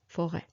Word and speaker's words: forêt: the rêve même, and forêt, okay? This is where it was, there was an S and it was some type of a silent S and then it dropped. So forêt, okay?